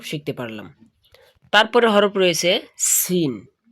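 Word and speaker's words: سين: তো এটা সিন। এটা উচ্চারণের সময় আপনার মুখ দিয়ে বাতাস বাহির হবে।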